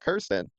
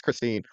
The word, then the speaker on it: Christine: were actually just upset about Kirsten or Christine, because I keep getting that name wrong. It's Christine.